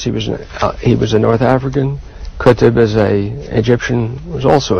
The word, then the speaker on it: Qutb: Someone whose name I'm not going to even try to pronounce because I bet you can. Said Qutb. Qutb.